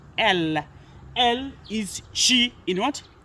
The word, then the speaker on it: elle: It's pronounced as elle.